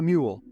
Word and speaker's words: mul: Sun quite like the mule. Often incorrectly pronounced as mules or moles, page 14 of the campaign guide does provide us the proper pronunciation as mule, a name meant to